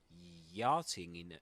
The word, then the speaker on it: yachting: Yeah, you've got 2 pronunciations actually. Yachting in American English, yachting, and in British English, yachting.